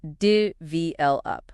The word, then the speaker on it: develop: Develop is pronounced dvl up with the stress on the second syllable.